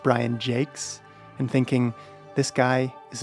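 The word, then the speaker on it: Brian Jacques: have Red Wall by Brian Jocks, J A C q Us, and being told by the clerk it's pronounced Brian Jakes and thinking this guy is a stupid American.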